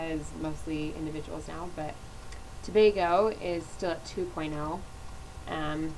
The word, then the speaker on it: Tobago: experience the culture and cool okay wait it's pronounced Tobago today oh yeah okay it's technically there's two